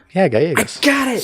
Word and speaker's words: Gallegos: Yeah, Gallegos. Got it. So the L's are Y.